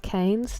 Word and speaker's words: Keynes: It's pronounced Keynes.